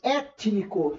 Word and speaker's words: étnico: Letra A, étnico. Olha lá, e não estão nem na mesma sílaba, mas eu tenho o som do T e do N. Tini.